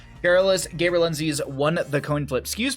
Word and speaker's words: Gaberlunzies: On the left-hand side, we have the Garrulous Gaberlunzies.